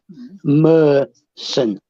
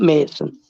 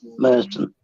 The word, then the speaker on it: Merson: Firstly, it's Paul Merson, not Mason. Merson. You have to pronounce the R, and it's an E, Merson.